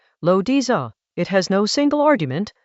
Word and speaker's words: Laozi: The Dao De Jing, pronounced Dao De Jing, is a short text from ancient China, attributed to a figure called Laozi, Lo Diza.